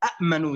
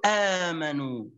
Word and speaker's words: آمنوا: حتى يكون سهلة في النطق فجعلوها هكذا الكلمة الثانية التي كتبتها على الشات فقالوا آمنوا بدل أن نقول أأمنوا إئذن هكذا إيمانا قالوا